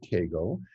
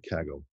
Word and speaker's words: Kaggle: communicate from this notebook with keigo uh with with kaggle i pronounce that in a funny way so with kaggle um